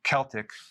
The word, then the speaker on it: Celtic: So I do not recommend consuming sea salt unless it's Celtic sea salt, or it could be pronounced Celtic. This is okay.